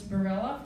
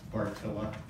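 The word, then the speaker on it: Bartylla: And now it is my privilege to welcome Monsignor James Barella from the Diocese of Madison to do our blessing. Monsignor. It's Bohemian, so it's pronounced Bartilla.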